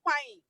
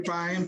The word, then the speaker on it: Payne: Oh, not forgetting our sister Payne. I'm sorry. welcome to Focus on Liberia. Please. Can you please pronounce it Pine Town, Pine. Okay, I'm sorry, and thanks for the correction. Pine, please, we want to